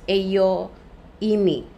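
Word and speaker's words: ἐγώ εἰμι: I am ito Iyung ego emi ayan ayan ang Greek word pero you pronounce it as EO Imi Ayan now ah itong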